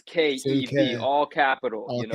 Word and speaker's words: Sienkiewicz: Sienkiewicz, and you still said Sienkiewicz. Like he had I, the syllables broken out, and you still just mashed them together when you said it.